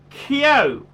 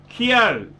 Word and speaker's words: Kyo: Pronounce it Kyo. Kyo. You pronounce it like Kyo. Kyo from Belgium.